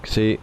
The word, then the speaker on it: Xi: and your subcompact also xi is pronounced like she all right so c